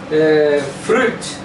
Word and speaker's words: fruit: A mesma coisa de flauta. Ó, a única coisa que muda é o R.